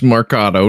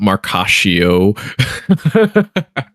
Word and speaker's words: Marcato: is and of course my name's Marcato not Marashio at this point just basically like just pronouncing avocado with the M at start.